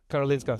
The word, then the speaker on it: Karolinska: So that, let's say in Sweden, I think Karolinska, am I saying it right? It's Karolinska, sorry, is a very esteemed hospital and works with Charité in Berlin, where I'm from, big hospital.